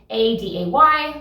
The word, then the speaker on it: A Day: A Day is spelled ADAY, like A and then day, just put together, A Day.